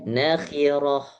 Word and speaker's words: نخرة: أإذا كنا عظاما نخرة Khi lebih jelas kha-nya nakhirah.